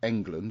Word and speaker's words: Englund: quite keen to meet Robert Englund, or England, depending on how you want to pronounce it.